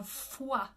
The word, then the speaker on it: foi: This one looks like La Voix Humaine, but it is La Foi. F-W-A in IPA.